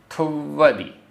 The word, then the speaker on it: थुव्वदि: थुव्वदि, आधा वा पूरा वा, थुव्वदि।